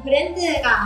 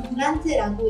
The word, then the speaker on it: BRAND: 네, 오늘은 브랜드가 아닌 브란트라고 읽는 것 같은데요.